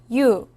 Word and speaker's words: 유: 유. 유는 먼저 이를 소리 내다가 바로 이어서 우를 소리 내며 발음합니다. 이와 우를 순서대로 빠르게 말해요.